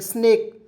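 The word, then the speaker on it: snake: उसके बाद यहां देखेंगे एस एन ए के ई स्नेक एस से ज्यादा स हो जाएगा एन ए के ई इसका उच्चार नेक के रूप में हो जाएगा स्नेक स्नेक तो सभी को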